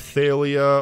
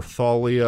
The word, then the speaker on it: Thalia: So there was this girl named Thalia, or Thalia, I've heard both pronunciations, who was a daughter of Zeus.